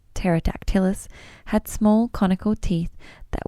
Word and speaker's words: Pterodactylus: The pterosaurs in this gallery were modelled on a small form known as Pterodactylus. Oh, it's given me a pronunciation.